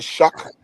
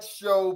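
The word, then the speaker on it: Shough: interview show whatever it it looks like show but his actual pronouncing the pronunciation of his name is Shuck.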